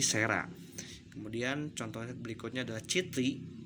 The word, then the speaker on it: cera: Kemudian huruf C dibaca menjadi S jika diikuti huruf E, I, dan Y. Contoh, tulisannya adalah cera, maka diucapkannya menjadi sera.